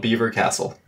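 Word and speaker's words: Belvoir Castle: to make vanilla raccoons beaver beaver it's called Beaver Castle what that's how you pronounce it and it's ridiculous Carlo was absolutely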